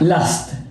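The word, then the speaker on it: Lust: Last. L U S T. Se dice con a, pero se escribe con u.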